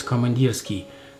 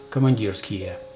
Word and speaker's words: Komandirskie: it's really easy to do to read as commandeer ski the way it's written right now but it's not how it is pronounced in Russian and I will explain to